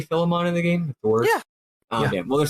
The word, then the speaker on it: Philemon: i'm pretty sure it's phyllis it is uh philemon uh really this character's name this character is i'm saying the game over guy is philemon but also his japanese name is firemon so okay well it's a reference to the